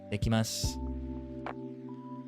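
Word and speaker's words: いってきます: Itekimasu.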